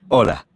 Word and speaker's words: hola: Hola. Hola. Did you notice that although hola starts with the letter H, it is not pronounced, the letter H is always silent in Spanish.